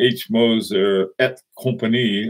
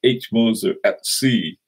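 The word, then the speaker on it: H. Moser & Cie: Moser at company correctly the word CIE is in French's company and instead of saying H Moser at company I said H monza at C so for those of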